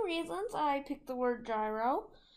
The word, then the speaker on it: gyro: I picked the word gyro the first one is that it rhymes with pyro so you know I